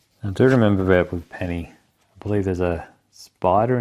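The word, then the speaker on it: Peni: I pronounce that right ni you go Penny it is Penny oh Penny p Parker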